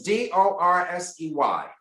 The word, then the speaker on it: Dorsey: Yes, and it's Dorsey. Yes, Dorsey. Did I pronounce it correctly?